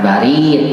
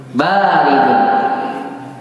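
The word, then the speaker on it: بارد: Nah, bukan barid. Salah. Apa itu? Baridun.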